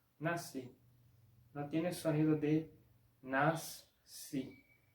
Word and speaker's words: nasci: Por ejemplo, la palabra nací se escribe así con SC, pero se pronuncia como si fuese solo la S, nací.